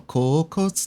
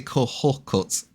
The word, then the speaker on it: Kokotsu: I can't say kohokotsu. I gotta remember not to do that.